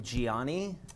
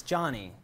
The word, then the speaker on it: Gianni: I got yelled at the other day because I was pronouncing your name Gianni. Oh, okay. And it's Johnny.